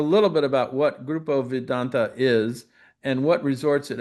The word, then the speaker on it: Vidanta: I'm here today with Ivan Chavez, who's Executive Vice President for Grupo Vidante. Vedanta, I should say. Vedanta, And yes. that's the correct one, the pronunciation.